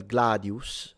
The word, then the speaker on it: gladius: Now that I think about it, Gladius. Maybe it's not long. Not long. It's short. Yeah, Gladius. So, it has the little U. It means it's short.